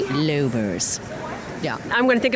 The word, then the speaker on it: Lommers: character Dr Sabine l i l but it's lers that's I was going to ask how to pronounce it because I didn't want to get